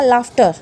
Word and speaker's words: laugh: Next rule है sometime GH pronounce like an एफ। कई जगह पे क्या होगा, GH को हम एफ की तरह प्रोनाउंस करेंगे। जैसे TOUGH क्या हो गया, टफ। TOUGH क्या बना, टफ। LAGUSTR क्या बन गया, लाफ्टर, क्या बन गया, लाफ्टर। LAUGH क्या बना, लाफ।